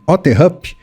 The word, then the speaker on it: Otterup: O Luiz está em Otterhup, na Dinamarca. Fui bem nessa pronúncia, hein, Luiz?